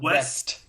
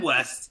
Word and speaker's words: Wes: And it almost even has a little bit of a Wes Anderson feel. Wes Anderson, not West. I said West. No, Wes, not West.